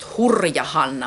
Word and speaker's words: Hurja-Hanna: My tag, see, this is pronounced Hurja Hanna. My Ravelry name is Hurja Hanna. Hurja-Hanna, and it's pronounced Hurja, wild Hanna.